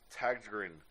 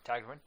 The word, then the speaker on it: Tägtgren: Lindemann, the project featuring vocalist Till Lindemann of Rammstein and Swedish producer and multi-instrumentalist Peter Tägtgren of Hypocrisy and Pain.